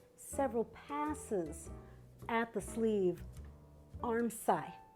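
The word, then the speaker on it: armscye: passes at the sleeve arm sigh maybe that's pronounced arm cis you know i'm never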